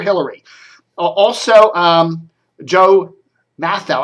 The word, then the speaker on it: Mathieu: uh also um joe matthau i think that's how you pronounce his name m-a-t-h-i-e-u i would say math now joe matthau uh is